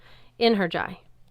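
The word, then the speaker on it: Einherji: Singular. Inheriy. He said it like inheriy.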